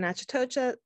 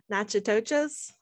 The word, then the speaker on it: Natchitoches: are from CLTCC in Natchitoches. Okay, now you're challenging how much I can pronounce Louisiana terms. Natchitoches? Natchitoches. Oh, wow, I was way off.